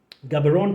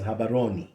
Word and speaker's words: Gaborone: Gaborone today is pronounced Gaborone, but you know the locals actually pronounce that as Habaroni.